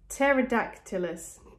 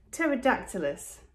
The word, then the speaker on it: Pterodactylus: Pterodactylus. Oh, wow, that's spelled so differently from how you pronounce it. Pterodactylus.